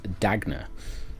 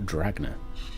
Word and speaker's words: Dagna: It is Dagna Stonebrow, not Dragna Stonebrow.